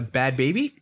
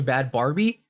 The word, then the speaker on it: Bhad Bhabie: call it but a bad baby yeah bad baby felt all weird yeah uh quick side note to that uh i think i mispronounced her before and called her bad barbie oh i didn't feel bad